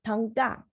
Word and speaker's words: Thangka: In Tibet, we pronounce it as Tanka.